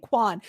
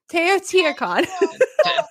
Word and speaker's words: Teotihuacan: Why am I saying Quan? Teotihuacan. Tequila Con. I don't know why I kept saying Quan.